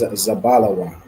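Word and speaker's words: זבולון: out and okay the correct answer is zabala Wan zabala Wan is Zebulon in MRE all right well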